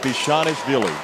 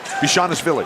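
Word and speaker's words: Bezhanishvili: Bishanishvili. Bishanishvili.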